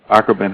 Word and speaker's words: Akobin: Is it Akobin? It's Akobin. Am I saying Akobin? Like, okay. Let me see. Akobin House. Akobin House, and it's in the Dinker symbol. so people can also get the pronunciation if they look, in the Adinkra dictionary, but it's Akobin.